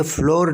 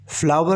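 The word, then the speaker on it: flour: A sake of फ्लावर, ये फ्लोर नहीं pronounce किया जाएगा, फ्लावर प्रोनाउंस किया जाएगा।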